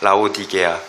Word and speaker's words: 라오디게아: 여러분 사대교회 우리 지난주에 여러분 수련에 하면서 사대교회와 라디 라오디기아이 발음이 잘 안 돼요. 라오디게아 교회 우리가 보지 않았습니까?